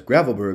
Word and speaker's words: Gravelbourg: But it is technically a French mustard, as Gravelbourg in Saskatchewan is pronounced Gravelbourg, a Franco-Saskois community.